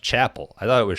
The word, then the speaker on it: Chappell: Willard Missouri okay I just found out it's pronounced Chapel I thought it was Chappelle cuz I was just reading it I think